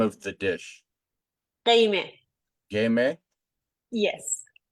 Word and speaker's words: Gheimeh: Gheimeh. Gheimeh? Yes. It's very good. Yeah, actually, it was a very good pronunciation.